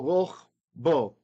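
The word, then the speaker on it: רָחְבּוֹ: Again, closed syllable, unaccented. The accent mark is there. So rachbo.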